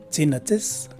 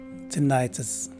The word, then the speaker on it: tinnitus: The letter U at the end is a schwa sounding E for both variations. So the right way to say this word is either tinnitus or tinnitus. Again, tinnitus or tinnitus.